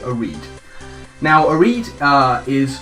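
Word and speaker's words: Oread: gone with oh reed i think that's pronounced o-r-e-a-d a reed now a reed uh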